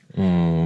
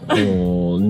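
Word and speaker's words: Å: Eh bien, en ce moment même, on est dans le village de A. A. Je crois qu'avec le A, avec le cercle au-dessus, je crois que ça se prononce O.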